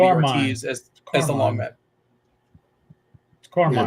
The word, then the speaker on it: Carmen: Carmine, it's Carmine.